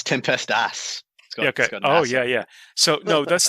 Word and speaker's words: Tempestas: Is it still the Tempestus? It's Tempestas.